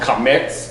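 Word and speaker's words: קָמַץ: And the A is not A as in apple. The A is A as in yacht. Okay? So it's an A sound like a short O actually.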